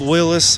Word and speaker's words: Willys: Willis was who founded Willis Overland. And um, his name was actually pronounced Willis.